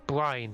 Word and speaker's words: Bryn: By the way, you pronounce it Bryn, right? Yeah, Brian. Bryn, okay.